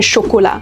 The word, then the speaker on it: chocolat: Il a son propre ensemble de règles, c'est comme un style libre, comme ne pas prononcer le "s" et le "t" finaux dans des mots comme "amis" (amis) et "chocolat" (chocolat).